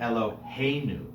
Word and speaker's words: Eloheinu: That's usually when we find the accent moving to the second to last syllable. Okay, Eloheinu, not Eloheinu, because we don't want to say our God, we want to say our God.